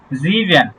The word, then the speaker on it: sieben: 7 কে আমরা বলবো জিভেন। কি বলবো? sieben, sieben, sieben, জিভেন।